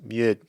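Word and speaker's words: mjød: like a slash through it D and it's pronounced mud and and it just means it it just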